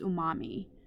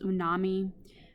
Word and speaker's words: umami: that's a little more recent is known as Umami sometimes you hear it pronounced as unami um either one works for me uh this